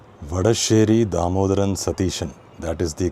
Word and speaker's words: Satheesan: So here although he himself takes oath as v satishan and by the way the second s in satishan is written as s but it's pronounced as sha just like shabarimala.